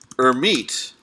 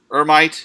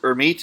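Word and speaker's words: Hermite: particular kind of of oscillatory interpolation that's called or meet interpolation people mistakenly pronounce it or might its or meet interpolation in which for every x value X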